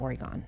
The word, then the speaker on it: Oregon: things and I'm like it's not Oregon, it's Oregon.